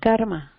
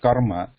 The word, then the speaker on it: karma: It should not be sounding like khara, khara, khara. It should be ka, kara, kara. Like karma. Like karma.